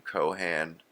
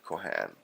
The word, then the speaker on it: Cohan: Cohan George M. Kohhan. Uh because like they say in Ireland they pronounce it Kohhan.